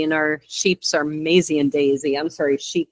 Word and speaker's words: Maisie: felt like Daisy, and I should not forget that name because it rhymes with Daisy, and our sheeps are Maisie and Daisy.